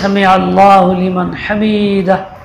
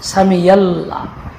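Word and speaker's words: سمع الله لمن حمده: বেশিরভাগ ইমাম সাহেব পড়েন সামিয়াল্লাহ, আইন উচ্চারণ করে না, আল্লাহ বলে না, সামিয়াল্লাহ। সামিয়াল্লাহ মানে আইন দুর্বল করতে করতে হয়েছে ইয়া হয়ে গেছে, কেউ কেউ হামজা হয়।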